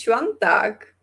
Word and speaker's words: Świątek: The correct pronunciation is Świątek.